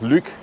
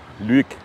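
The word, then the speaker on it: Lueg: Jetzt wartet der erste Pass, der Pass Lück. Lück wird da, glaube ich, ausgesprochen.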